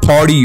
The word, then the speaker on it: party: You know, ever since I can remember, I used to say "parti, parti, parti," but one day I noticed in a video, it's pronounced "partdy."